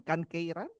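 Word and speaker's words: Kankeiren: Business Creation Platform at the Kansai Economic Federation, Kankeiran.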